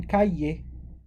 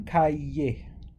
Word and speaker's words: cahier: When we have an ER at the end of a word, it's pronounced this way, right?